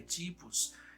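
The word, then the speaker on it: τύπος: Então, o primeiro Adão é um tipo do segundo Adão, e ele usa a palavra grega tipos, que literalmente se pronuncia tipos, e temos o plural também, tipoi.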